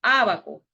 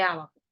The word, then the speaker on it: ábaco: La última sílaba sería la co, ¿verdad? Ábaco. Entonces, última, co. Penúltima, va. Y a sería la antepenúltima. Por eso se acentúa acá. Llevan acento en la antepenúltima sílaba.